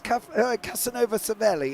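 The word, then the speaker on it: Casanova-Savelli: Yes, along with pronunciations of James Casanova Savelli. It's said in one. It's not two separate corners.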